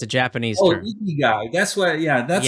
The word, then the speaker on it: Ikigai: think you call you had a name for it the is it the how do you pronounce it? It's a Japanese Oh, term. Ikigai.